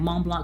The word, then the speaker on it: Mont Blanc: One of you mentioned that I should try Mont Blanc. Mont Blanc. Mont Blanc. I'm trying to get the accent. Mont Blanc, because the T's, you don't pronounce the T and the C.